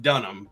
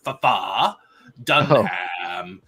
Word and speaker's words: Dunham: pronounce the name Jeff Dunham but he he he pronounces it as it's spelled so it's Jeff FAA Dam nice I love it